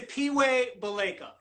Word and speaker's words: Siphiwe Baleka: at you looking all colorful welcome Hey so pronounce your name so that I can make sure I'm saying it correctly it's a P way Balika the P wave alaikum you got it all